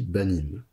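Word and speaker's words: בנים: mettre ben au pluriel alors au pluriel ben ça se dit banim et banim bah ça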